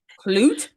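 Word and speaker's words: Klute: you pronounce that clut Clute a lot of people say clue it's clut e because you say the e as well no one says the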